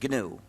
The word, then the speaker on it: GNU: still is goodw so please pronounce the name with a hard G pronounce it gnu there's another erroneous pronunciation